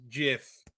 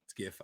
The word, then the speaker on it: GIF: open up his mouth and he says it's pronounced Jiff it's GIF damn it all right GIF I'll always say GIF no matter what it's